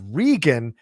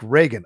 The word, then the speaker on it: Regan: a heads up that my name is pronounced regan not like reagan okay i just thought